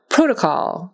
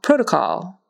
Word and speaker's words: protocol: the difference all right protocol protocol so that's a long o in that first syllable protocol protocol and that